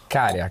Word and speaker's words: Käärijä: Käärijä, Käärijä. - Käärijä. Yeah, not "a", but "e" something.